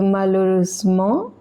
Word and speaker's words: malheureusement: Et malheureusement, in this one the H is silent, S is in the middle of two vowels, so it is pronounced as Z, and ment is pronounced as mo.